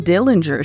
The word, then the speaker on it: Dillinger: In case you are wondering, and I know you're not, the name Dillinger should actually be pronounced Dillinger.